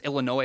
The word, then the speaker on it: Illinois: The way the state of Illinois spells things, the S is silent. I hate that so much. Anyway, why include the S, I guess, is my point. It's Illinois is how it's spelled, but it's Illinois is how you say it.